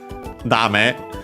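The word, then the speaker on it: だめ: Dame, an adjective which means accent on the last mora, no good, not serving its purpose, useless, and so on.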